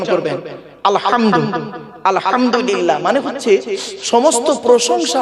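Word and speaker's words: الحمد: বলি আলহামদুলিল্লাহ রাব্বিল আলামিন আলহামদু এই গলার ভেতর থেকে উচ্চারণ করবেন আলহামদু আলহামদুলিল্লাহ মানে হচ্ছে সমস্ত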